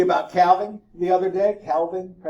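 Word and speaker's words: calving: Calvin the other day Calvin you pronounce the L or not it's up to you oh that's EAS to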